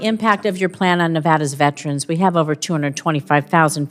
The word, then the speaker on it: Nevada: month ago point in Nevada okay Nevada it's Nevada sir please say it correctly it's Nevada if a